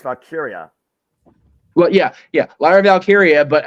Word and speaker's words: Valkyria: It's not even Valkyrie. It's Valkyria.